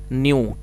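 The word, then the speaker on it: knew: के साइलेंट है और सेकंड फॉर्म है न्यू के एन ई डब्लू जिसमें के साइलेंट है तो आप इसको न्यू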